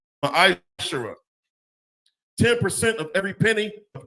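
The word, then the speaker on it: מעשר: It's pronounced ma'ashara.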